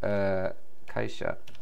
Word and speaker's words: 会社: We have Kaisha. Why doesn't that work? Kaisha ni hairimasu. I knew it.They pronounced it as the onyomi reading.